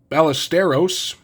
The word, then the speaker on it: Ballesteros: Cubs on the 2023 Bowman we have Moises Ballesteros sorry I forgot the there was the T